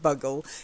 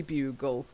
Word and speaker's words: bugle: I like bugger I like the idea of Bogle in fact I think there are some children's characters called Buggles but it's actually bugle ok do you not